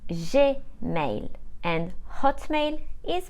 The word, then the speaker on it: Gmail: the number a now in French Gmail is pronounced je male and Hotmail is pronounced at mail KO is